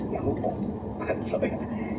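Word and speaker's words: Teahupoʻo: It's funny because the Polynesian language, the vowels are exactly in Spanish. And I was born in Argentina, so it's Tehupo.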